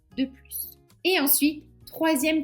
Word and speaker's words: plus: Parler une langue étrangère n'est pas un plus, c'est une nécessité. 3 + 5 est ég 8. Donc là plus a un nom, donc on va prononcer le s.